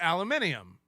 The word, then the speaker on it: aluminium: it it's like so the British people put the eye in there which makes it aluminium we don't we don't do the ium we just do the um so it's aluminum so you're both every